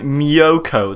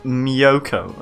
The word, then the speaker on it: Miyoko: And Miyoko, that's how you pronounce it, my dear locomotor. It's Miyoko, okay?